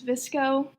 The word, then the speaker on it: VSCO: And then my other one is right now is Visco. I was just telling Dad about that one, and it's another. Spell it though.